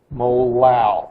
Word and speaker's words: molal: 10.4 molal.